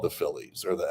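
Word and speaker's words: filidh: Like the the students who ultimately became the Brehens were called the Phillies or the F I L I DH. You don't pronounce the DH.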